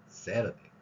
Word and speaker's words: Saturday: 그래서 모음과 모음 사이 되니까 Saturday가 Saturday. 티읕이 아니라 리을로 우리말 리을로 소리가 납니다. 이런 표현이 바로 waiter가 아니라 waiter 그리고 water가 아니라 water로 발음되는 그런 현상입니다.